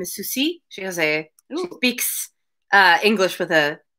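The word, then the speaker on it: Souci: Her name is Susie.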